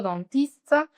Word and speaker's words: dentiste: S-I-T no se pronuncia. La E tampoco, dentiste.